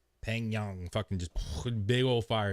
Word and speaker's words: Pyongyang: It's Pyongyang.